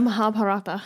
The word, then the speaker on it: Mahabharata: In the okay, you pronounce this for me. You say it really well. The Mahabharata.